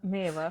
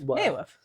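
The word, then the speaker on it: Mereworth: Merryworth. Because there's no double. There's only one R in it. M-E-R-E. Worth. Merryworth.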